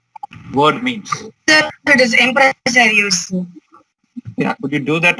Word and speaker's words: Empresarios: Would somebody able to pronounce it and explain what the word means? Sir, it is empresarios.